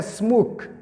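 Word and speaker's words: smoke: اوس لکه سموک سموک پسې اخر ای راغلی ده، دا ای نه تلفظ کېږي.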